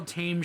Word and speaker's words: Thames: That's like how Thames Street in Baltimore is pronounced Thames Street.